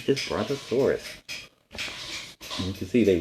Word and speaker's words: Brontosaurus: This is how you say it, Brontosaurus. This dinosaur was a giant, but its mouth was tiny. It ate plants. It ate and ate and ate to fill up its big body. Its name is Brontosaurus.